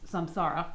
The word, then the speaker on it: samsara: for it uh is samsara from Sanskrit some sorrow spell light spelled like sand spelled like Sam and then like Sarah without an H uh yeah so I'm